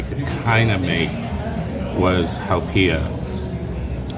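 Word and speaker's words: haupia: kind of make was hiia back then I mispronounced it I called it hoopa and Al also instead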